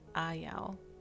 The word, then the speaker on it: Ayao: I've heard it's like kind of hard to pronounce, but it's Ayao.